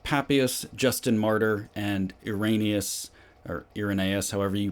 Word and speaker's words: Irenaeus: You have proponents like Papias, Justin Martyr, and Irenaeus, or Irenaeus, however you pronounce it.